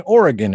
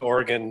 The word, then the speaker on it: Oregon: You're in Arizona now, but you live in Oregon. Is that correct? I do. I live in Portland. Yes, I actually grew up in Chicago, born in Seattle, grew up in Chicago, and moved out to Oregon in my last year of high school.